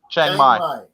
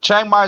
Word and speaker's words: Chiang Mai: I was in Phuket, and now I'm in, how you pronounce it? Chiang Mai? Chiang Mai.